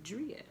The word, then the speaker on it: Driaa: Like, it doesn't mean to pronounce the I differently, because someone tried to say, oh, I thought it was Drea because you have two A's. No, fool. Driaa with two A's.